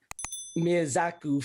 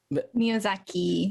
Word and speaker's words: Miyazaki: what is the best miyazaku film is that that's how you pronounce it exactly miyazaki miyazaki film okay i'm gonna